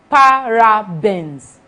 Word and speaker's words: parabens: That's why it is a video, so you can slow down, listen to the pronunciation. They are called parabens.